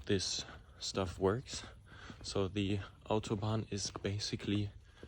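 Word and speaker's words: Autobahn: a bit on the autoban auto autoban actually I'm just going to pronounce it how it's really said in Germany uh because I I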